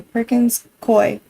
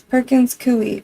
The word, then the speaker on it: Perkins Coie: Anyone who watches this, the law firm he just named, Perkins Coie, everybody says it wrong. They say Perkins Coie. It's Perkins Coie, like gooey.